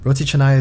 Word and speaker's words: roti canai: Roti canai. Yeah, that would be. Did I say it right? Yeah. Here we say chennai, but yeah, roti chennai is.